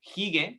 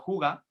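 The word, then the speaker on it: hygge: una palabra que es el hige, pronunciado juga, Sí.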